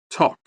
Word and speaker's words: talk: In this word, we have two silent letters. First K and W. Listen. T. Rhythm. H. The first H. Should. L. Talk.